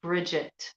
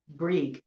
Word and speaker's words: Brig: Some people may call it Bridget. Okay. And that would be a modern pronunciation, but old, Irish Gaelic, it would be Brig, okay?